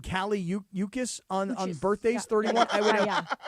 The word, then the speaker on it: Cali: Calli Uchas. Is that how you pronounce her name? Yeah, Cali.